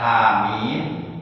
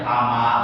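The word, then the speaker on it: حم: ada orang baca Quran seharusnya dibaca ha mim dia dibacanya hamal saja benar demi Allah Had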